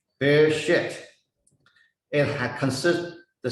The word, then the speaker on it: Bereshit: It pronounced Bereshit. Okay, Bereshit.